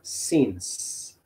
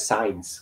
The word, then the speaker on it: since: Tengo la palabra since. S-I-N-C-E. No es science, que luego me la pronuncian mal. Since. Ajá. La E no suena y la C suena como una S. Since.